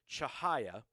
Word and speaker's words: Chihaya: Yeah, that's how you pronounce it. Elizabeth Chihaya.